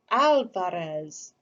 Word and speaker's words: Alvarez: our name to myself opening my mouth wide for the organ blast of the ah trilling my tongue for the drum roll of the r alvarez how could anyone get